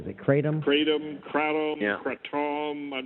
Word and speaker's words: kratom: is kind of interesting, is kratom or kratom. Not sure how you say it. You've heard of that stuff? Chris told me kratom? about that, I think. Didn't you, Chris? Kratom? Kratom, K-R-A-T-O-M. Kratom, I think it is.